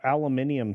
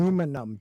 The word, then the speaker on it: aluminium: You have a aluminium spork or something. Aluminum, dude. No, aluminium. It's It's spelled two it's different ways.